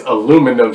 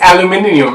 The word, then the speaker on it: aluminium: because i'll be like yo the word is aluminum she's like no it's aluminium i know how you add four syllables to the word of course aluminium you